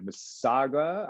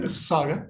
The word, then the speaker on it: Mississauga: Visco, 58 years young today, the pride of Mississauga. I'm going to mess it up. All right, I'm going to let you pronounce it. You got it, Mississauga.